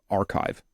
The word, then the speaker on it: bioRxiv: That's how you pronounce this little piece up here, R. That's the Greek letter chi. So archive.